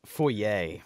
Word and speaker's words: foyer: some Egyptian mummies uh the proper pronunciation is foyer by the way weirdo that's a little